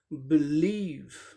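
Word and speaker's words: believe: बिलीव second syllable पे stress है। पहले सिलेबल को साधारण तरीके से बोलेंगे, सेकंड को जोर देके बोलेंगे। बिलीव, बिलीव, बिलीव, इस तरह से बोलेंगे।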